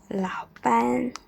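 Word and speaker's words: 老板: Nada 3 plus nada 3 sama dengan nada 2 plus nada 3. Bacanya laupan.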